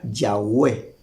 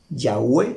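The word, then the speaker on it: Yahweh: consonantes o sea el tetragrama que se pronuncia yahwe yahwe se pronuncia las cuatro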